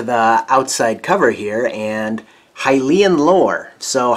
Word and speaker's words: Hylian: outside cover here and hylian lore so hylian is an adjective describing the word lore or hillian as 13 year old bob would have pronounced it so nintendo seems